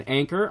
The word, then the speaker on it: Anker: people call it an anchor I believe it's a German company and the way we pronounce it is Anka but I could be